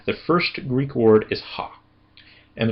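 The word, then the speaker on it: ὁ: first Greek word is ha. And the reason why I'm saying that it's ha is because it has a rough breathing mark above the omocrron.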